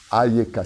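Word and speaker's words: איכה: mot-là qui ne peut se dire qu'en souriant, Ayeka. En hébreu, Ayeka te force à sourire d'une oreille à l'autre. Ayeka. Ayeka, si tu le prononces en hébreu parfaitement.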